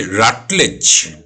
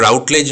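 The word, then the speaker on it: Routledge: সে রাটলেজ, RUTLEDG, ওকে, রাটলেজ, উচ্চারণটা রাউটলেজ নয়, রাটলেজ।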